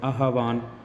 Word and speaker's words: आह्वान: चाहता है उत्तर होगा आवाहन आवान इसका उच्चारण सही करेंगे आहवान कविता में आगे बढ़ो और